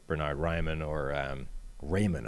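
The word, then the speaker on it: Raimann: bernard ryman or um raymond apparently is how that's pronounced even though that's clearly not how it's pronounced if you have any kind of german heritage being austrian um uh or trevor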